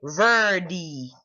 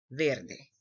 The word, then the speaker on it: verde: Somebody else could say verdi, verdi, and that's not right. So therefore maybe the second one's best, ver, and like literally day, verde, verde.